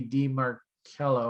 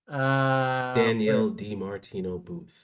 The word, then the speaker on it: Danielle DiMartino Booth: inflation problem, if you listen to our buddy Dee Marcello or whatever her name was, I always get her name wrong. That's why I didn't say the name because I always mispronounce it. Danielle DiMartino Booth.